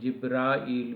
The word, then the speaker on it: جبرائیل: میں جو جبریل ہے، اس کا جبریل بھی ہے ایک تلفظ، اور ایک جبرائیل بھی ہے، یعنی کہ الف کے ساتھ بھی ہے، دونوں طرح یہ نام پکارا جاتا ہے، لکھا جاتا ہے، بولا جاتا ہے، درست ہے۔ 44، بے